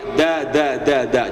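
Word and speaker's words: د: Jadi, huruf dal itu sama makhrajnya sama dengan huruf ta. Nempelnya ke gigi, jangan ke gusi.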